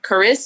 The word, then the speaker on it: Charis: It helps people pronounce my name correctly. It's CharisMachelle. Charis.